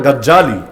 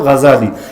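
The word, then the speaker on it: غزالي: আলাইহি নাম শোনেন নাই বাংলাদেশে অনেকে অবশ্য বলে গাজ্জালী মূল উচ্চারণ হলো গাজ্জালী ইমাম গাজ্জালী রহমাতুল্লাহ আলাইহি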